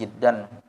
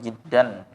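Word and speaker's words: جِدًّا: Nah, keterangan cara bacanya aja. Muntasyirun jiddan. Muntasyirun jiddan. Jimnya dikasrahkan.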